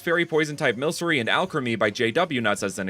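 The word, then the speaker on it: Alcremie: Also, to break the fourth wall, I realized as I was writing this script that Alchemy is pronounced like alchemy because it's alchemic cream, just like Milcery is milk sorcery, not alcreamy.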